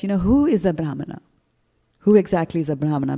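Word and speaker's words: brāhmaṇa: on the a and there is a dot underneath the end so you know there are accents and there's a particular way in which you pronounce that word so it's brahmana right in sanskrit grammar now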